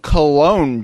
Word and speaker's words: Cologne: looks like it's spelled Cologne Germany but it's actually spelled like it's actually pronounced like col Germany oh really I thought it was cologne uh that's the English and French pronunciation but the German pronunciation